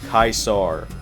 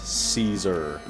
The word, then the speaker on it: Caesar: lives no I'm not saying his name like kaisar that's stupid it's pronounced Caesar this is a lot of walking what's your